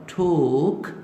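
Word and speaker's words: took: ये टी ओ खे, अब ये प्रोनाउंस होगा ठोक, ठोक, ठोक। ये टाक नहीं है, ये टाक नहीं है, this should be pronounce as ठोक।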